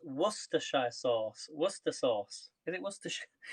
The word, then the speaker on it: Worcestershire: to use i've never used this before it's pronounced worcestershire sauce worcester sauce if it was to sh yeah worcester sauce because you guys in the states call it worcestershire liam perrin's worcester sauce worcestershire worcestershire sauce repeat